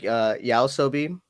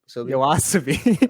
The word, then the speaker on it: YOASOBI: Isn't it Yaosobi? Yoasobi. Oh, fuck it. Dude, you suck with pronunciations. Holy shit. Yeah, sorry, I'm not fucking Japanese. But you don't have to be Japanese, just read, bro. It says YOASOBI. Let's just say that doesn't say Yaosobi.